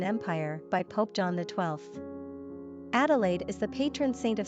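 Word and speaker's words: Adélaïde: Adelaide is also the French spelling rendered as Adelaide and pronounced Adelaide.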